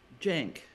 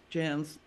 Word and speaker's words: Jance: end of my name so people would say it Jan's like dance instead of Jank like tank well then when my